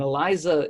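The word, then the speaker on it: ELISA: little iso assay and eliza just stands for an enzyme linked immunosorbent assay the Z gets thrown in there from the immuno absorbent even those an s but we print it's spelled Eliza or something like fret that's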